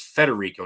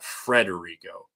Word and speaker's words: Federico: Well, also, I thought his name was Federico, not Frederico.